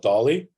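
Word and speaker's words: DALL-E: is awesome it's called Dolly and it's spelled uh d-a-l-l-e but I I believe it's pronounced like Salvador Dali the Spanish artist and you can ask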